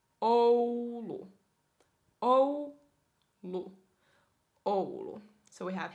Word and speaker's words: Oulu: And then we have Oulu, which is way up north, at least for my standards, because I'm a southerner here. Oulu. Oulu, Oulu, Oulu, Oulu.